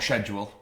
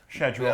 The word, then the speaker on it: schedule: got for today or schedule schedle a lot of debate about how to pronounce it both are right guys but you can see